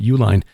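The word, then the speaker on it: Uihlein: n it's but it is that's how you pronounce their name Uline according to the the stories this group of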